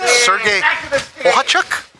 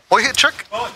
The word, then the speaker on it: Bohachuk: Bustos sparred with, Doug, correct me how I say his name, Sergey Bohachuk? Boychuk, the guy.